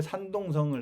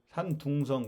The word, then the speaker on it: 산둥성: 그렇고이 글자와이 글자가 바뀌어요 우리는 중국의 산동성을 산동이 그래요 산동 동쪽 동력 동자 중국애들은 이걸 산동성 발음을 어떻게 하냐 천지가 반대니까 산둥성 그래요 산둥 천지가 반대니까 이런 법칙만 날아 내면은 전 세계 언어가 그냥 풀려요 우리는 동으로 발음하는데 중국에서 둥으로 발음한다면 산둥성 응 그 이게 주검이 그